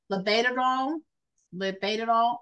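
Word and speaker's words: labetalol: to use a anti-hypertensive medication write this down lead all liol or Hydro hyd umine hydroline so liol is spelled la e t a l o l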